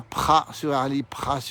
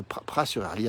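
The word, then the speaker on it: Praz-sur-Arly: Et Maryse nous dit qu'elle a passé de bonnes vacances à Pras-sur-Arly, où nous sommes, en Savoyard. On ne prononce pas le Z d'abord, on ne dit pas Pras évidemment.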